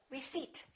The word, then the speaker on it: receipt: all right silent P don't say rece say receipt can I have my receipt psychology psychic one